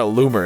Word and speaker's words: Loomer: blessed your name is Laura Loomer it literally rhymes with Boomer short hair equals woke